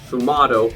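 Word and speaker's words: sfumato: i find once you get to um sumato sumato that's how you pronounce it i googled it and i googled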